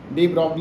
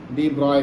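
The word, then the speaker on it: de Broglie: तो अब कुछ एक वैज्ञानिक थे जिसको, जैसा कि इसमें लिखा हुआ है ब्रॉगली, डी ब्रॉगली है, लेकिन एक्चुअली में इनका जो प्रोनाउंसिएशन है डी ब्रॉय कहते हैं।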